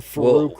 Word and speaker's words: Farouk: And Farouk rhymes with poop.